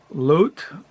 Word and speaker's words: Loutit: Let me see how I pronounce it. Let me see. It's called Loutit, L-O-U-T-I-T District Library, Grand Haven.